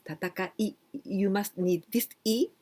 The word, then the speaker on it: 戦い: studying Japanese, 戦い, well, this kanji we only pronounce tataka. Then we need furigana I, tatakai. So if we are studying Japanese and if you are going to do your test, please be careful. Tatakai, not like this.